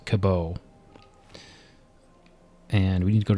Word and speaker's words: Cabot: i talked to jack i'm gonna pronounce it cabo and we need to